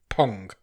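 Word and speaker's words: Phang: So, this film is directed by Jennifer Phong, Phong. Pong. It is Pong because it says on her IMDb that it's pronounced Pong.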